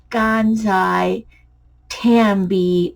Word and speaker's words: Gansai Tambi: and these are here's how to say it gansai tambi watercolors by kiraki got that these are amazing